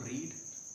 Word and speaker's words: read: रीड माने पढ़ना होता है, तो आप बेसिकली जब फर्स्ट फॉर्म बोलेंगे तो रीड, second form रेड and third form भी रेड बोली जाएगी।